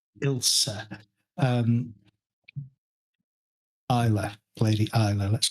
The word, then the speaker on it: Ilsa: should probably be pronounced Isa. Isa. I L SA. So, it should probably be Isa.